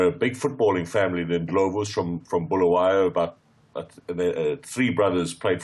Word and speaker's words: Ndlovu: you have there had verified that it is Ndlovu. Yeah. It's Ndlovu. It's the Zulu word for an elephant, is an Ndlovu.